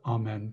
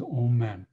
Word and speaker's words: amen: to sound all men often known as amen but more properly pronounced as old men it helps with manifesting